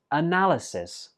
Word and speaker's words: analysis: 9 is analysis. Analysis. This word has 4 syllables, and notice that the 4th syllable is not pronounced I, it's pronounced a.